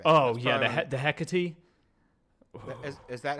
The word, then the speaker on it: Hecate: Oh That's yeah, probably the Hecate. is that how that's pronounced? I assume it's pronounced like the Greek witch, the Greek goddess Hecate, right?